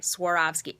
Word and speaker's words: Swarovski: Swarovski. Everybody pronounces it wrong. These sort of famous Austrian crystals that everyone knows. Everyone knows Swarovski crystals, but most people pronounce it wrong.